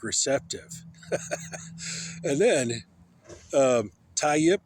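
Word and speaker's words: Tayyip: And then um tie yip. It sounds like a yip yip like a dog.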